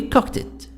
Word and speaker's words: cooked: Yes, I've already cooked it. Cooked it. The D here, I pronounce it ta sound. T. Why? Because we said, and before it, the sound of kah sound, like cook.